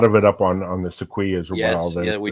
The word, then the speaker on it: sequoia: lot where of we got- predation on the Sequoia Yep. with herons. Now as tell me well. about the sequoia, because I finally pronounced it right.